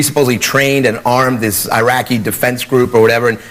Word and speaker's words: Iraq: to protect themel and we never even pronounced the country right I we called it Iraq it's not Iraq it's Iraq but Iraq sounds like